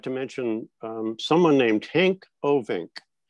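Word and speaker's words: Henk Ovink: to mention someone named hank ovink and no i didn't mispronounce hank's name hank is a dutchman he's from the netherlands he was the water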